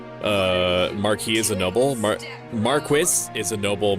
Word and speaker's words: marquis: Marquis is a noble. Marquee is a canopy. A canopy. Both supposedly pronounced the same.